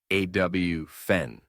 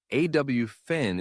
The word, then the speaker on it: often: You might hear people pronounce the t saying often, but most native speakers say awfen. The t is silent. Both pronunciations are technically correct, but awfn is more common in casual conversation.